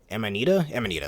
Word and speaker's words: Amanita: Here's the Amanita, that's how you pronounce it, which is a blue mushroom enemy from the ones we see in the Forest Maze level.